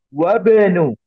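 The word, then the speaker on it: وَابْنُ: Wabnu. Cara membacanya disambungkan. Jadi hamzahnya tidak terbaca dengan jelas. Atau bahkan tidak terbaca sama sekali.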